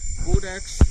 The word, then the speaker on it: Codex: Codex is pronounced with a long O, as in code.